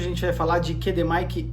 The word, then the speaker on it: QDM: com alfabeto fonético mas a pronúncia correta Aqui no Brasil é assim mesmo é KD Mike e qdr não é qdm e não é qd Romeo é KD Mike e